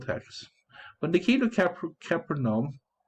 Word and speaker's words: Capernaum: Okay, well, pronunciation. How do I say it? Otherwise, Capernaum. Here we go. Capernaum. Copernicus? When they came to Capernaum, the collectors of the temple tax approached Peter